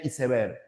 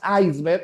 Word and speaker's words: iceberg: decir, pero recordemos que en nuestra lengua se pronuncia como se escribe. Entonces, la pronunciación sería isever. Si tú pronunciaras iceberg, eso no es castellano, ¿ya?